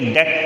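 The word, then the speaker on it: debt: बेटा ठीक है ना इसमें बीच साइलेंट है ठीक है बेटा बीच है साइलेंट कोई साधन नहीं है इसकी तो इसे ठीक है नाम इसलिए डेट पढेंगे एक विशाल इन पेमेंट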